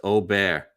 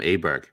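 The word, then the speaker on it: Åberg: basically it yeah it's O bear for um that's how it's pronounced in whatever the language is they speak in Sweden are they going to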